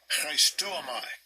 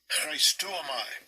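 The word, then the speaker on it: χρηστεύομαι: It's pronounced this way again. Strong's G 5541. Christuomai. Christuomai.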